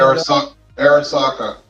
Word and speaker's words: Arisaka: it up because I can't remember how to pronounce it. the Japanese rifle, infantry rifle. Uh, I've got one Arisaka.